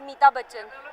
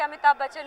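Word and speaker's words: Amitabh Bachchan: फॉर हिम you know अमिताभ बच्चन इज a name which we when we were young use to pronounce it एज मीता बच्चन when we कुंट even से अमिताभ बच्चन we knew अमिताभ बच्चन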